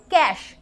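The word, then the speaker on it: cache: তারপরে দেখ আচ্া আচ্ছা এটার উচ্চারণ হচ্ছে ক্যাশ। ঠিক আছে? যে পয়সাকে আমরা ক্যাশ বলি সেম উচ্চারণ। এটা কিন্তু ক্যাশে নয় অন্য কিছুর ক্যাশ উচ্চারণ।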